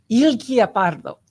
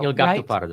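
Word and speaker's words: Il Gattopardo: Anyway, so Alan, Il Pardo. No, I said it wrong. Gatto Pardo. Il Gatto Pardo.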